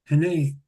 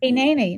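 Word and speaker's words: הנני: When you hear the holy call, answer Hene. You'll have to help me with pronunciation. Hineni. No, you got it. Hineni.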